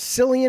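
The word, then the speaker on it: Cillian: believable, was that uh is Silian is how you say the name, the Oppenheimer fella, the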